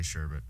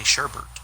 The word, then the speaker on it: sherbet: it's sherbet I always say sherbet I always did too but apparently a lot of people say sherbert well they're wrong so so if anybody's